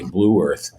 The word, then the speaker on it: Blue Earth: The small town he grew up in Nebraska and Mankato, Minnesota, and Blue Earth County, Blue Earth, as we pronounce it. I think it's more like one syllable for Minnesotans.